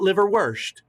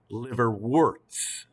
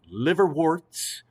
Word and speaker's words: liverworts: other types as well liverworts not live or worst liver warts liver warts that's what these are